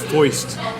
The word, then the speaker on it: Feist: And It'll be like that night at the Feist concert all over again. Dude, if you heard her sing 1, 2, 3, 4, you'd fucking cry too. And you'd know it's pronounced foist.